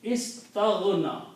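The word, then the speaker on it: استغنى: It becomes istaghna. When you pronounce this together, istaghna.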